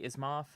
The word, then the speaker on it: Asimov: It's based off of the Isaac Asimov. Yeah, is that how you Asimov, say?